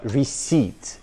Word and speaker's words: receipt: Ну, это просто «ресепт». Это слово «receipt». Receipt, receipt, receipt.